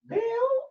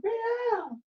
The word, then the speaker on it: Baal: Yes, it's Baal or Baal. Thank you, Baal. But it's not like Baal's a green.